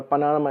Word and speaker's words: Panama: The word Panama has accent on the first syllable, Panama, actually it's said Panama. So Panama is more stress on the first one, ama is the second one is slightly less signifying.